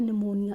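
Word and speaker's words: pneumonia: disease तो पहला है निमोनिया इसमें पी साइलेंट होता है तो यह निमोनिया है जो कि बैक्टीरियल डिजीज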